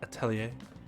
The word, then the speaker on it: Atelier: simply the ball eventually that is how you pronounce that right Atelier okay let's talk to